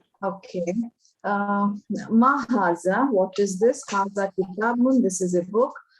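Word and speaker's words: هذا: Haza is pronounced mahaza, but it is written without the first alif.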